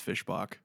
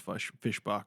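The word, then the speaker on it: Fischbach: It's Fishbach. It's Fishbach. It is Fishbach according to AI overview.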